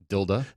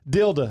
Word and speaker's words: Dilda: how do you say your last name correctly tilde tilde okay I want to make sure okay we